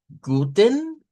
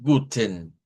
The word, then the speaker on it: guten: O sea que esta se puede decir como guten, donde suena en, guten, ahí sí hay un sonido de esta vocal, o nada más guten, guten, más seco. Ese sonido así seco donde hay una E, recuerden que es con la EN, con la EM que vamos a ver este patrón, es muy característico sobre todo del nativo hablante.